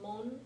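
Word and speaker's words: 門: often a pronunciation component this is pronounced mon in Japanese and there are a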